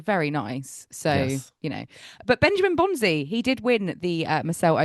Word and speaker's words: Bonzi: Bonzi, yes. I once called him Benjamin Bonsai, like a bonsai tree, which I have never been able to live down.